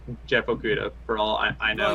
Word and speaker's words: Okudah: I can't pronounce his last name that well. Okudah. Okudah, yeah, there you go.